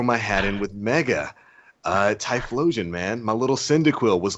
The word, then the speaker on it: Typhlosion: Like, Nah, man, Typhlosion was awesome. He's cool. My friend used to pronounce that Thigh-plosion. And my other friend thought that was so hilarious that he was That is pronouncing it wrong.